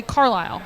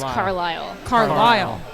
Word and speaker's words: Carlisle: and bred you are but I always say Carlile but you're like carile it's it is car car not carile car us slightly Outsiders pronounce it incorrectly car car car but